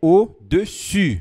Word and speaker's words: au-dessus: Muita atenção a essa primeira palavra, au-dessus. Logo mais a gente vai treinar a pronúncia. Au-dessus, que significa acima. Se você falar au-dessus, significa abaixo ou de baixo. Mas aqui é au-dessus, com biquinho.